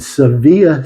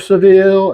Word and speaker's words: Sevilla: Spain, the Barber of Seville and all that. The name of that town is actually Sevilla. It's spelled with two L's, E-L-L-E at the end of it.